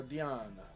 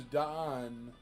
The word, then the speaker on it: Dion: Dion is how it's pronounced. There you go. Dion. Dion. I always thought it was Don.